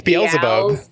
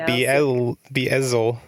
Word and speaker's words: Beelzebub: Like, you switch the Z and the L. Whatever. It's Beelzebub. Beelzebub, not Beelzel.